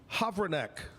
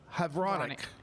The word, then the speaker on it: Havranek: Havranek. Havranek.